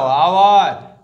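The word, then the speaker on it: hour: অ্যান বসবে, যেহেতু vowel সাউন্ডের মতো প্রোনাউন্সিয়েশন হচ্ছে। এটাও আওয়ার, অ্যান আওয়ার, vowel sound.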